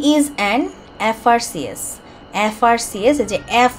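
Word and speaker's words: FRCS: false into দা বে of Bengal he ইজঅান এফ আর সিএস এফ আর সিএসযে এফ উচ্চারণ করার সময় এ উচ্চারণ করতে হচ্ছে না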